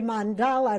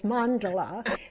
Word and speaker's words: mandala: Well, you may notice that I say mandala and Ronnie says mandelola. These are two pronunciations uh that we have heard Hindu people use.